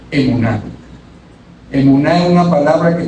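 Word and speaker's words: אמונה: Ahora bien, esa palabra fe tan usada en el libro de Hebreos 11, la fe en hebreo se pronuncia emuná.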